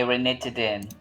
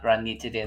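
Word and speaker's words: ranitidine: one religion hcl okay renitdin okay so it's not granny today but rain needs to then renegotiating hcl okay so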